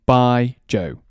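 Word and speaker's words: baijiu: And for those of you who are trying to understand the pronunciation, imagine it saying by Joe. By Joe.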